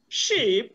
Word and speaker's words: sheep: thank you very much i want you to understand that these words are not homophones pool is not a homophone to pull sheep is not a homophone to ship god is not a homophone to cut while these ones are long these are shot and your pronunciation must indicate that okay all right my